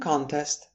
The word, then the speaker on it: contest: For example, the spelling contest was held in the school auditorium. Contest. Just like many other words, you see that the shift is on the second syllable to make the verb means to challenge or dispute something.